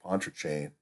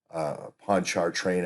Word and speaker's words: Pontchartrain: But I go back to Deep Uranium telling me at the listening station, at the Navy listening station at Lake Pontchartrain, Pontchartrain, I guess it's pronounced.